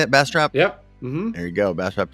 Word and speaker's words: Bastrop: Seattle and Ryan's down there in Bastrop beautiful Bastrop Texas is that how you say it Bastrop yep there you go Bastrop Texas uh the